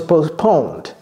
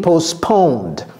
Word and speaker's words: postponed: Okay, as it was raining, so that's the cause of the game being postponed. Ça là. Postponed. Pour prononcer ça, évitez le T. C'est ça la sauce. La sauce, c'est éviter le T.